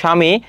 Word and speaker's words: স্বামী: উদাহরণ দেখো স্বামী। এখানে ব এর উচ্চারণটা হচ্ছে না।